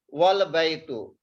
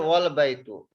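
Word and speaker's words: وَالْبَيْتُ: You see here, wal baytu. So before Hamzatul Wasal, there is a word one, wow. We will not pronounce here Hamza. We will pronounce wow with the lam.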